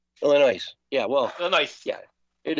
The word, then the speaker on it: Illinois: That's almost like Illinois. Illinois.